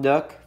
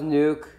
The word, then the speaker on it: Nook: Jam race Ace Tom Nook phantomy 4 I'm very sorry I pronounced it wrong I thought it was nuke because of the way it looked but it's Nook I'm very sorry please